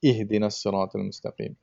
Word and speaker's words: اهدنا الصراط المستقيم: So there is almost like a slanted vowel that you're pronouncing, but you know, it just needs to be like a sharp I kind of thing, like ihdinas siratal mustaqim.